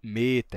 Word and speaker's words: meta: um detalhe interessante né ele fala que o e quando é longo ele é fechado ele é e né que fica próximo de um som de i que ele fica fechadinho então meta ele é fechado né